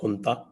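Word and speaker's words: junta: इनकी जो नता है जे यू एन टी A pronounce नता तो यह इनकी जो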